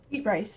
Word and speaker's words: Beatrice: Beat Bryce is how you say it.